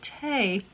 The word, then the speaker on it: tea: soup until victorian times english upper classes pronounced it tay it was seen as